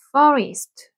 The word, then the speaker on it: forest: 돌린 소리 있기 때문에 입모양 오 발음 어 해가지고 길게 퍼 퍼 이렇게 되고 F 발음은 아 아랫 입술에 윗니를 물고 바람 나가는 소리 이렇게 해주셔서 forest 하면은 숲입니다 숲 사고요